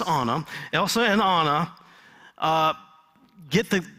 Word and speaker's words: Anna: And Elsa and Anna, I had to pronounce it correctly. I've been saying Anna for a while, but it's Anna.